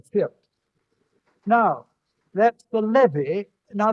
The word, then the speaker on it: fyrd: in the Anglo-Saxon dictionary, you won't find it because it's spelt there FIERD, and that'll give you a better view of the pronunciation. That's right, the firt.